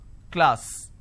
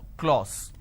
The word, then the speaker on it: class: So I have K, L, A, S, class. This is how it's pronounced. But people make a mistake and they make it O, clause.